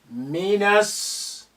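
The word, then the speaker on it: من السوق: Look at the na here. The alif is silent because it's not at the beginning of a sentence. The lam is silent because of sin is a sun letter which is carrying shadda.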